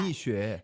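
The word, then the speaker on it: Mixue: How do you pronounce that? Mishu. Mishu.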